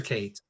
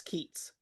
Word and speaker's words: Keats: the capital city of Hyperion which is called Keats or is it Kates? Is it Keats or Kates? It's Keats.